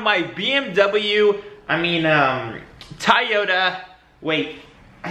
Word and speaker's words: Toyota: um toyota wait i think it's toyota toyota so i don't know why for the longest time i've only said toyota and no one's ever corrected him in my entire life and i know it's spelled out t-o-y like toy and then yoda but i don't know